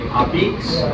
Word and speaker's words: Abeets: And number one, if you want to sound like you're from around here, you have to say Abeets.